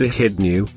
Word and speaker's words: echidna: Sometimes called the spiny anteater, the short-beaked echidna, pronounced echidnew, measures 30 to 45 centimeters long and weighs 2 to 5 kilograms.